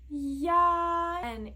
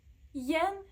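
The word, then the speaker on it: ian: nasal letter letters I Plus a are pronounced as y y y and in Chinese this final is only used with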